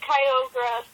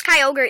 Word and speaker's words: Kyogre: how to pronounce it it's kyogre idiot i just said kyogre you said kyogre not kyogre you said kyogra i know wait is